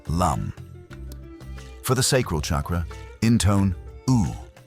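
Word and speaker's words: लं: The Sanskrit seed mantra here is LAM, pronounced LUM.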